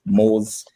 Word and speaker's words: Mohz: I go by the alias of Mohz. It's spelled M-O-H-Z.